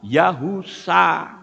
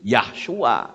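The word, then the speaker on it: יהושע: Jadi Yod he waw sin ayin membacanya adalah Yahusa. Paham sampai di sini? Jangan tulisan Yahusa dipaksakan untuk berbunyi Yahshua.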